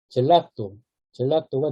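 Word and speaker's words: gelato: 되는 단어 중에 하나인데 지 다음에 이 애가 오면 구개음이 됩니다. 그래서 이거는 겔라또가 아니라 젤라또가 되겠죠.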